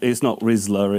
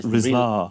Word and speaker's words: Rizla: It's not Rizzler, it's Rizlar. Rizlacroix.